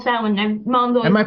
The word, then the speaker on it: Samhain: I know it's spelt Samhain, which is not how it's pronounced.